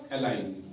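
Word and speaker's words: align: रहेगा silent silent रहेगा इसीलिए ये अलाइन जी को जी की आवाज नहीं निकलती है इसको यहां साइलेंट रखा गया है अगर इसको साइलेंट ना रखा जाता इसको या एलाइजन पढ़ा जाता या अलाइन पढ़ा जाता ठीक है लेकिन हमें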